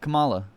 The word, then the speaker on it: Kamala: Kamala.